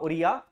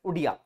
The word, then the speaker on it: Odia: आगे बात की जाए 96 amendment substituted Odia from Oriya, consequently the Oriya language in the 8th schedule shall be pronounced as Odia।